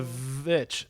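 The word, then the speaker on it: The VVitch: it the thing is the witch or the vit if you want to say the title as it is spelled yeah the vit um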